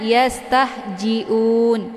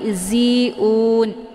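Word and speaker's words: يستهزئون: Za ya Za zizu bukan ja bukan Jiun ya Kebanyakan orang membacanya yastahjiun itu bacaan yang salah tapi ziun Za ini posisinya di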